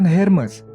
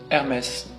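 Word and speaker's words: Hermès: kamu tidak salah dengar kebanyakan dari kita sering menyebut brand ini dengan sebutan Hermes padahal pengucapan yang benar adalah RS RS RS Ernest dan ngomongin soal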